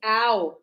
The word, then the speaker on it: hour: an hour an hour if you if you think of the sound that we have it's hour not h.